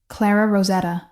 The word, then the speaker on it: Clara Rosetta: "I'm Clara Rosetta." She pronounced it with a slight roll of the R that spoke of decades in America, but origins elsewhere.